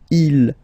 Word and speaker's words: ils: Okay, so you can notice that even if you've got this S at the end, and then here you don't have anything, well, you pronounce them the same way.